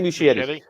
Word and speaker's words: Muschietti: Yeah, Andy Muschietti.